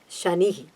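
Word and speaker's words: शनिः: Sha, again the Shiva Sha, the palatal, Sha, Ni. Both are Hraswa are the short letters. So we cannot say Shani, which is getting the letter Sha there, which is totally wrong.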